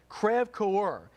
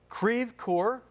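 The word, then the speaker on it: Creve Coeur: it was moving towards kraev coer and that's where we got on the Fox alert system ceve core okay I'm getting ceve core is the confirmation from locals there telling us the correct pronunciation thank you for those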